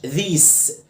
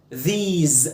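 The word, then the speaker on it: these: ذس ذيز خد بالك ما اسمهاش ذيس ذيس الاس جايه من حرفين متحركين بنطهى ذيز مش ذيس ذيس طبعا احنا قلنا الار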